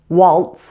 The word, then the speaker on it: waltz: breeze organized and specialized an exception to this rule are the few words that end with T Z now those are pronounced with an S these are rare and include words like Hertz waltz and Ritz Carlton now if a word